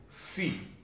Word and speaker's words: fi: confundir com o número fim o número filho letra grega que se pronuncia fi apesar de não ser